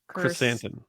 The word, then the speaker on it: Krrsantan: Krrsantan.